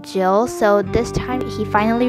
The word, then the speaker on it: Jill: hard to grasp and my coach says my name wrong in the past lesson all the time so like he'll say or or instead of jill so this time he